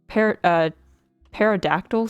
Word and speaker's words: pterodactyl: Pterodactyl sounds? I thought it was pterodactyl. Or maybe the P is silent.